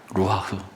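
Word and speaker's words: רוּחַ: 히브리어의 발음으로는 루하흐라고 이렇게 발음합니다. 루하흐.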